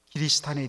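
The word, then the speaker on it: キリシタン: 이 에도 막부 시절에 기리스탄에 대한 박해를 배경으로 하고 있습니다. 여러분, 기리스탄 이게 뭐냐면 바로 크리스찬이라는 말을 일본 사람들이 제대로 발음을 못해갖고 그것을 기리스탄이라고 이야기합니다.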